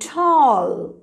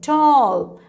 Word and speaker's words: tall: at some examples and tall don't say tal say tall i'm tall my brother